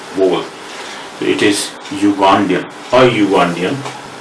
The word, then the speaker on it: Ugandan: Because it is not pronounced with vowel U or U, U with Hindi or Devanagari script. It is started with U, Ya. Okay? Because of that, the vowel sound is not there. Only the consonant.